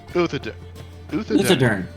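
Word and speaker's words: Uthodurn: Oh, hold on, how do I pronounce that? Out of character. Uthadern.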